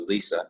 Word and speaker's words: Lecia: But I have to give credit here to Lisa, and it's spelled Lecia, our secretary here, and Len Zielinski, who really did a spectacular job in my mind's eye.